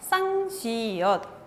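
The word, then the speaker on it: 쌍시옷: Sang-shiot. ¿Cuál es el sonido? Sonido S. ¿Y cómo vamos a hacer otra vez la pronunciación?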